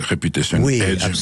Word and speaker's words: Reputation Age: Donc ça se prononce à l'anglaise Reputation Edge, même si vous êtes un organisme bien français, bien signé que vous vous intéressez essentiellement à des thématiques françaises.